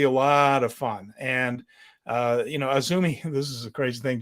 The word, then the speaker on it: AZM: As you can see on the screen, Azumi's name is spelled A-Z-M. Yes. AZM is how it looks every time you see it written out, but it is in fact Azumi.